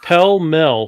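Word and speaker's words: Pall Mall: Filter tipped, pell-mell, packaged in gold. What did he call it? Pell-mell? He called it pell-mell. Pell-mell? Yeah, pell-mell for some reason.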